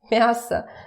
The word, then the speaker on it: мясо: Мясо. Again, pay attention to my pronunciation. Remember that it's about vowel reduction. So when it's not stressed, it turns to like that. Мясо, мясо. It's not мясо.